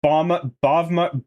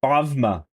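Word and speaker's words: Bawma: Just Balma or whatever? Bavma. So you pronounce it with a V, but it's spelled with a W.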